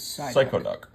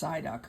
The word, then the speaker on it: Psyduck: of Pokemon, and my personal favorite Pokemon is Psychoduck. Ha ha ha ha. It's pronounced Psyduck.